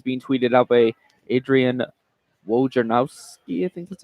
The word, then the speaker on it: Wojnarowski: A lot of things being tweeted out by Adrian Wojnarowski, I think that's how you say it. Wojnarowski.